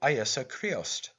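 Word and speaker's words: Íosa Críost: name of jesus christ in his native tongue pronounces it iesa creost unconscious of the fact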